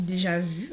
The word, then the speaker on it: déjà vu: titre déjà vous ou déjà vu c'est comme ça qu'on dit en français on dit déjà vu voilà moi je prononce à la française et donc nous allons